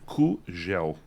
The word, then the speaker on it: Kugel: É melhor não pronunciar em português, porque aí vira Kugel.